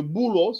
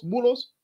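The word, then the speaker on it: بولس: En arabe, il n'y a pas de lettre P. Il prononce comme B.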